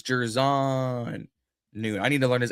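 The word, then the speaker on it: Jer'Zhan Newton: It's Gervon Newton.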